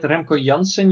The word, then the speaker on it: Remco Janssen: So as you said, Remco Janssen, you pronounced it correctly.